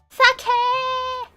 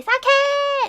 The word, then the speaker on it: sake: you know you don't you don't actually pronounce it like that it's actually sake you don't you don't pronounce it like that okay guys if you go out and order this in like job japan like some day don't go and say saket no no no don't